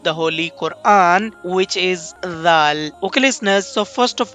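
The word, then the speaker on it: ذال: So the point of pronunciation of this letter is by touching tip of the tongue with the edges of upper front two teeth.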